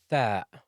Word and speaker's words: ث: The fourth letter is Thaa, like you're saying three. Three. Thaa.